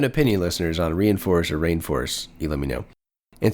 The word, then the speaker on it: Reinforce: I think it's Rainforce, Isaac, rather than Reinforce. I've been reading it Reinforce for years, but I'm pretty sure they pronounce it Rainforce. Wow. There's some older spellings of Rainforce that spell it Reineforce. And I think that's a better spelling. Let you know that it's Rainforce and not Reinforce.